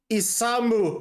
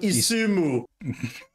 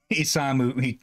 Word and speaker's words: Isamu: Isamu Hattori, not Isumu. Isamu Hattori, yeah. I'm notoriously bad with Japanese and Eastern names. That was a name you switched the A and U with each other.